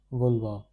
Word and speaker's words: vouloir: This is pronounced as vouloir.